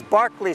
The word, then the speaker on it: Berkeley: We would say Berkeley Square, but the English pronunciation is Berkeley Square.